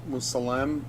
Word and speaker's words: Musalem: So comments from Feds Musalem is coming across. That's how you say his name.